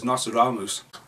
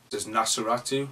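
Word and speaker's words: Nosferatu: random as yesterday when I was dressed as nasus no just no yeah like that can never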